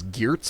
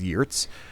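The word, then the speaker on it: Geertz: which I think uh people might know as gez but I'm told the Dutch pronunciation is YZ who who wrote this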